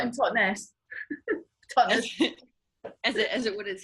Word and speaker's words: Totnes: Well, I say Totnes, yeah, but actual Totnesians say Totnes.